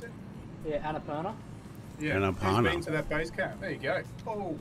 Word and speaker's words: Annapurna: oh eight 18 is our maximum I think we're doing pretty good yeah base camp that is pronounce it yeah Annapurna yeah there you go oh yeah yeah it's